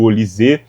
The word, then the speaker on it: Olise: Enfim, deve ser Olise, né? Porque é francês, então sempre tem essa sílaba tônica ali no final, mas vamos deixar para lá e vamos voltar aqui para a análise do jogo.